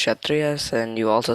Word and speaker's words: Kshatriyas: Instead of Shat, you mispronounced Kshatriyas, and you also said Hanuman was the elephant god, but he's actually the monkey god.